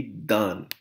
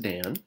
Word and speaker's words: dan: answer here should be done done okay be careful this is not pronounced Dan Dan is a man's name done means they give